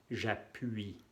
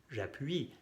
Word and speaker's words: j'appuie: La Y se va a cambiar aquí por la U y la I, que se pronuncia UI. UI. En frente de una vocal se pone la J con apóstrofe. J'appuie.